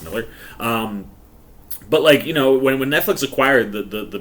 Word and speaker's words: Millar: I always say Millar because that's how it's spelled, but I believe it's pronounced Miller.